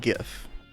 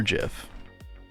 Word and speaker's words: GIF: It's obviously pronounced GIF or GIF, depending on your persuasion.